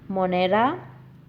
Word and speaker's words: Monera: So, the five kingdom classification includes Monera, Monera, Protista, Protista, fungi, Fungi, fungi.